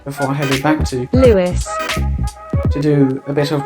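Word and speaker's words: Lewes: back that goes off ads which apparently is pronounced Lewis because apparently some Journeys skip the station of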